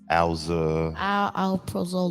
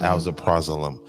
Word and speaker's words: Alprazolam: Alprazolam. Alprazolam.